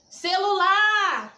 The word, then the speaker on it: celular: Celular! Tá vendo lá? Fiquei um tempão chamando. Ô, celular! O lá é a sílaba tônica.